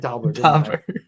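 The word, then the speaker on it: Dobber: has something Dober Dober I said Dober I literally was in my head thinking it's Dober I know I said doer and I meant Dober and I knew I was gonna say it wrong um sorry but yeah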